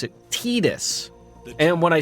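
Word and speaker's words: Tidus: like everyone thinks in Final Fantasy 10 it's Titus but I've heard the Japanese people pronounce it tedis and when I said that in chat people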